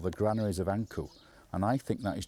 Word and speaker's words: ankh: And we think it is Ipi or Apa, Anku. That is how Ankh is pronounced in ancient Egyptian.